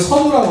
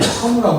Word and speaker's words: 선우: 뭐 이렇게 퓨마에서는 뭐냐면 이걸 선호라고 하잖아요 이렇게 선우라고 합니다 선 선우라고 이렇게 있는데요